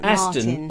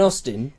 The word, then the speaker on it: Aston Martin: Not an Austin. No, it's a British car, though, isn't it? You've got to say it right. Oh, Aston. I thought it was an Austin. It's not Austin.